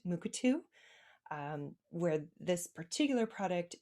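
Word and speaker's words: Mukurtu: native american community here there is what is pronounced moocatu um where this particular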